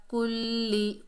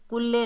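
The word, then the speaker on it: كُلِّ: वहुवा अला, वहुवा अला कुल्ली, कुल्ले नहीं पढ़ना, कुल्ले, कुल्ली।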